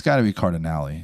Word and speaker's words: Cardinale: It's got to be Cardinale. It's Italian. You always pronounce the E in the Italian names.